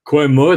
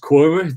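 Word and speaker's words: Quernmore: and passing through the village of Quormore, that I've learned should be pronounced Quormer these days, and a really tough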